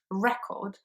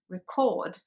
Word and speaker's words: record: emphasized more and similarly in the word record which is a noun when you want to talk about um the black disc that you play music from record the first syllable is the strong one as you can hear and the the verb is written in the same way but it's pronounced record which means to register something on film for example so i'm